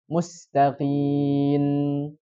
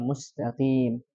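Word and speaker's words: مستقيم: Kemudian ya, sering terjadi juga mengganti huruf mim dengan huruf nun. Mustaqin. Ya, mustaqin. Yang harusnya dibacanya mustaqim.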